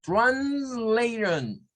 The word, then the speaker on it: translation: Es translation. En este caso, esta IO, miren, esta IO se convierte en un schwa. Por eso todas estas van a sonar a shon siempre al final. Shon. O sea, si lo viésemos en el otro sistema, esa terminación es como que hagamos una S, ¿verdad? Una SH, una UH y una N. Shon. Shon. Ese sonido es el que pertenece a la terminación que estamos viendo acá.